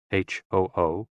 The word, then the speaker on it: HOO: HOO, pronounced like hu, which is associated with the spleen.